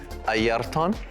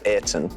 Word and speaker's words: Ayrton: It's actually Aryton. That's Okay. the specific, the proper way of saying it. But here I just say Ayrton, like the air we breathe and like a tin, so okay.